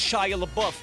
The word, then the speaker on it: Shia LaBeouf: And it's pronounced Shia LaBeouf.